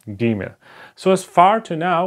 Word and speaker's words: Gimel: It has to be pronounced like G, like in going or go, okay? Gimel.